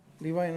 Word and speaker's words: Levine Act: Levine Act.